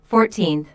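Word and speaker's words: fourteenth: first second and third the stress is on the second syllable 14th compare this with 40th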